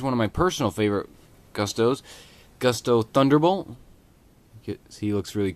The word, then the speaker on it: Gusto: Yes, it is pronounced Gusto. Just so you all know, out there on YouTube and new YouTubers, it's pronounced Gusto, not Gusto.